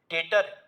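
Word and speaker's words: debtor: तो ये शब्द डेटर, डी ई बी टी ओ आर, डेटर, इसमें टी साइलेंट होता है, डी ई बी टी ओ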